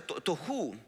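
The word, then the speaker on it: תֹהוּ: en el hebreo que se se pronuncia se pronuncia tohu y que significa falta de forma forma, que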